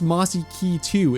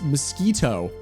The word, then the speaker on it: mosquito: Ludy, it's not pronounced Mossi K2. It's mosquito.